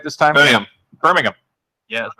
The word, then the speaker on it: Birmingham: Live from Birmingham. Did I say it right this time? Birmingham.